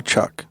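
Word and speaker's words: chock: It's called a chuck, and it's spelled like a chalk.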